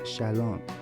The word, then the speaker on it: shalom: this word which is actually a hebrew word pronounced shalom shalom is used both as a greeting and